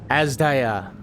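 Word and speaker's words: Azdaja: Azda.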